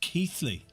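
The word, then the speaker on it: Keighley: Pronounced Keithley.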